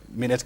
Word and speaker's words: Minet: General Manager, Managed Medicare at how do you pronounce it? At Minet Kenya, yes, that's right.